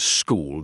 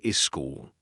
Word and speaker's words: school: Instead of school, they say is school. The correct way is to start directly with the s sound.